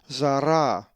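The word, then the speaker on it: Ζαρά: The accent is over the second alpha, so therefore it is pronounced zara.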